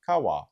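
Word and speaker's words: 川: I think of river I think of car wash which actually helps me with the pronunciation which is Kawa Japanese also uses a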